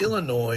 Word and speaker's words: Illinois: address out of Wan Illinois no s on the end of that I got plenty of uh messages telling me that Illinois is uh pronounced without the ass you didn't know that